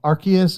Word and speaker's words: Arceus: Um by the way, Breakfast, just to assuage your frustration um Arceus it uh follows sort of the Latin and Greek pattern, neither of which use a soft C.